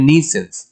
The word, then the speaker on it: nuisance: 29, what a nuisance, সাউন্ডটা নুই নয়, এটা ইউটা উচ্চ থাকবে বা সাইলেন্ট থাকবে। what a nuisance, কি আপদ রে বাবা অথবা কি উৎকট ঝামেলা রে বাবা।